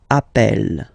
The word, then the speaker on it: appelle: and then you get a double consonant, and well, they are the same, then it does change the pronunciation of a. You tend to pronounce it like really open.